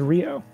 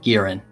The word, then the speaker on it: Gieran: Oh, I thought it was Rio. Where did the Rio name come from? No, that's not how it's... It's not how it's spelled. Oh, Gieran. I pronounce it Gieran, because it's spelled like here.